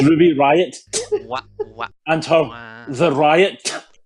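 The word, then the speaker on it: Riott: You need to pronounce it, otherwise why is it there? It's not silent. That breaks the rules of English. It's Ruby Riot What?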